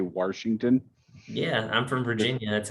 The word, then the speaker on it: Washington: you really just say washington yeah i'm from virginia that's how you pronounce there's no r in washington look tell me where